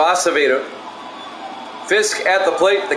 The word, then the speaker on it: Acevedo: a pretty good pitcher I think it's pronounced Acevedo I heard the public address announced so Acevedo Fisk at the plate